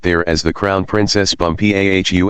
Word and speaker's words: Bumpo: She became his chief wife and is now known out there as the Crown Princess Bumpau. Accent the last syllable.